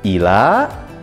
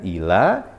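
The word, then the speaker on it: إلى: Jadi ila artinya ke atau kepada. Kita simpulkan bedanya antara illa dengan ila. kalau ada tasdid, yaitu kecuali. Kalau tidak ada tasdid, artinya ke atau kepada.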